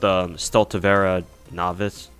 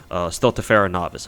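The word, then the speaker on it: Stultifera Navis: Thankfully, with our next event with Stultivera Novice, am I getting that event name wrong?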